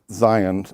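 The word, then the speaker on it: zayin: one is Zion and it's spelled z a i n or z a yeen and it's a z like in zebra and sounds like Zion lovely Zion now the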